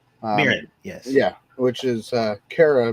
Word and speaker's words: Mirren: Mirren, yes.